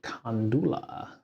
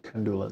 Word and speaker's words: Kandula: servers after being fired nagaraju Kula no nagaru kandula there you go I apologize um uh